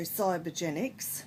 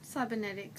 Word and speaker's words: cybernetics: and always talked about psycho cybergenics cybernetics sorry about that I always said it wrong I always say cybergenics I don't know why